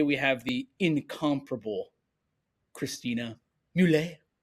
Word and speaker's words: Mule: Today we have the incomparable Christina Mule. Accent on the E, Hi.